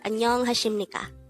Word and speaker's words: 안녕하십니까: This is pronounced as Annyeong Hasimnikka.